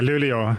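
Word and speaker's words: Luleå: I'm going to try and pronounce it correctly. You're near the city of Lulio. Yeah. Lulio.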